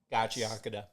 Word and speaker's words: Gachiakuta: And then I butchered the name every single time. Gachiakuta.